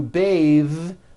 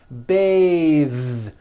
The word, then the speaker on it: bathe: it into a verb to bathe the vowel changes to an a sound and the th is voiced bathe like in bathing suit breathe same thing breath